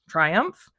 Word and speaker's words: Triumff: the creator of Guardians of the Galaxy and it's spelled wrong so here's here's a copy of the cover uh it's t-r-i-u-m-f-f Triumph it's by Dan Abnet Regina it's the year